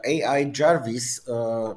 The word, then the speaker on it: AI Jarvis: People pronounce it, but we made a small joke because it's not Ai Weiwei as people thinks. It's I because it's a Chinese name, and Jarvis because it's an American name, and it's not necessary from Iron Man.